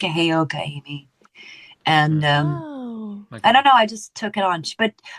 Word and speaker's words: Heyoka: Heyoka.